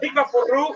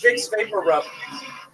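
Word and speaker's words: Vicks VapoRub: I moved here to realize that big buru is actually pronounced big vapor rub. You have any idea how many CVS I went to asking for big bakaroo?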